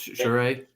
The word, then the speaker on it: Charest: Oh, Travis Charest.